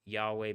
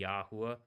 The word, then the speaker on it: Yahweh: But it is something where like I say Yahweh and I say Yahweh because Yah and then the way but it it could be Yahwa Yod.